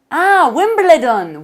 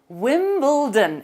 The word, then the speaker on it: Wimbledon: Now, I say this to Spanish people and they always say, Wimbledon, Wimbledon. And I'm like, no, Wimbledon. It's spelt funnily, but that's its little quirk.